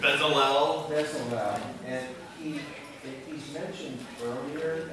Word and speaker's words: Bezalel: Next is this gentleman, Dallas, I can't remember how to pronounce his name. Bezalel.